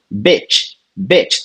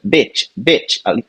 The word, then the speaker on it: bitch: Então a primeira aqui, bitch, tá? É o I curtinho, bitch. A maxilar nem mexe.